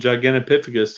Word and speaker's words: Gigantopithecus: on a human so I have been saying it wrong all the time damn it yeah I think you're right because it's that P sound in the middle instead of the T sound but basically I mean